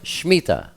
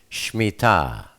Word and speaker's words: Shmittah: Most people call it the Shmittah, but the proper pronunciation is Shmittah.